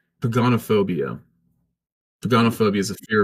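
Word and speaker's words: pogonophobia: It's pagonophobia. Hmm. Pagonophobia is a fear of beards. Here's Google telling you how to pronounce it. Yeah. Did you hear it? Yeah. I heard something. Yeah, it was pagonophobia.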